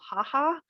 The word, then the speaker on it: HHA: The first is the Home Health Homemaker Aid Program, sometimes called HHA and sometimes called HAHA. It's not funny, but it's just what people call it. The VA likes to pronounce its acronyms.